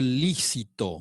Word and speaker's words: lícito: Lo realizado por el fiscal fue lícito. Lícito. No se olviden que todas las palabras que llevan acentuación en la penúltima sílaba son esdrújula. Entonces, sí o sí se marca.